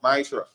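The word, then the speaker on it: ma'aser: You can find this numbers in chapter 18 vers 21 and Malachi 3 8 to 10 means 10th in the Hebrew and is pronounced miser.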